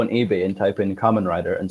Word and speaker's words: Kamen Rider: They had it was a driver, but they'd call it was Carman, spelled like car, C-A-R, and it was Carman Rider. Because they don't know, do they? They have no idea. Like someone says to you, "Oh, it's Kamen Rider," but you're like, "What?"